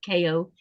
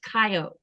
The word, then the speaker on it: Kayo: Now it's spelled Kayo, but it's not pronounced Ko, it's pronounced Kayo.